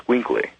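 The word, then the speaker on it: Xoloitzcuintli: right yes and uh the pronunciation of that is called a squinkle a squinkle squinkle and uh sink they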